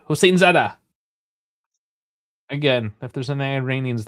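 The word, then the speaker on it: Hosseinzadeh: Hossein Zadeh. One word. I said it like it was two. Hossein Zadeh.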